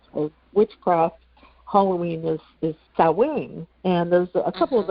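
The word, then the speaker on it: Samhain: Halloween is is cowing. And there's a couple of other different pronunciations. And I remember, you know, when I was younger and I first saw the word, I I always said Sam Hayne.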